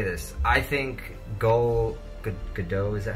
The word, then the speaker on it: Gal Gadot: One of the best things about Wonder Woman, because again, I will always say this, I think Gal Gadot, is that how you say her name?